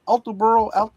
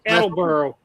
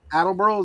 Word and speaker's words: Attleboro: Aanel, New Jersey is living in New England since 2000 and he's currently in Alterboro. Altober, Taxus. Attelboro. Attleboro. Is that how it's pronounced? That's how you pronounce it.